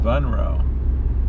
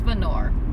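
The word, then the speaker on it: Vonore: is in vulture vro venro with a V yeah venro there's the sign well that's said venor I guess I can't read it's venor my bad spell that v o n o r e the problem was there's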